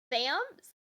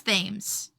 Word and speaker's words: Thames: I was gonna say, how do you pronounce? Is it Thames? Thams? Thames. It's Thames.